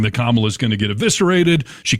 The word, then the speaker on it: Kamala: I'm Kamala.